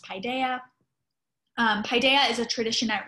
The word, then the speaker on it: Paideia: you've wondered how to pronounce that word it's pronounced paideia paideia is a tradition that read it's a